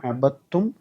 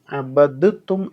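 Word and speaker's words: عبدتم: അവിടെ ദാലിനെ ഹർക്കത്തില്ല, അതിന് പ്രത്യേക ഉച്ചാരണം കൊടുക്കാതെ തായിലേക്ക് ലയിപ്പിച്ചിരിക്കുകയാണ്. അബത്തും എന്ന് ചേർത്ത് വായിക്കണം. ആ തായിന് ശബ്ദ കൊടുത്തിട്ടുണ്ട്. അബത്തും, അബദ്തും എന്ന് വായിക്കേണ്ടതില്ല എന്നർത്ഥം.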